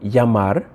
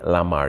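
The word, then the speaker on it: llamar: like I said like yamar when you have a ll it actually makes the Y sound you won't say Lamar you'd say yamar so in this case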